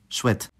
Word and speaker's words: chouettes: chat and chouette, well, chouette. As you might have gathered by now, that S is silent, but it will reappear, pronounced as Z in liaison.